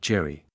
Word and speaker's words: Jerry: Lupe always pronounced my uncle's name as Yeri, not Jerry.